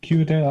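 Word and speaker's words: Cuerdale: Querdale, am I pronouncing that right?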